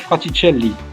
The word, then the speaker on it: Fraticelli: en France, monsieur Eric Fratielli. Je l'ai bien prononcé. Impeccable. Bravo.